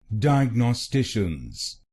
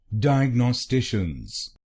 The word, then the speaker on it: Diagnosticians: Dye Ag No Stitch Dye Ag No Stitions will make it DIAGNOSTATIONS DIAGNOSTATIONS and in this you have to put stress on the fourth syllable DIAGNOSTATIONS DIAGNOSTATIONS.